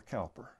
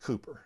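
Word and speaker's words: Cowper: and the hymns of william cooper or calper and so i know the english pronounce it cooper so i'm trying to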